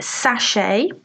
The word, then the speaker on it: sachet: a bag a sachet note the pronunciation it's a silent tea sachet um oh I've got